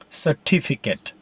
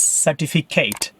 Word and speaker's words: certificate: Next word, certificate. Sometimes I hear students mispronounce this word as certificate. It's not certificate. Last syllable is ket. Certificate. With the stress on the second syllable.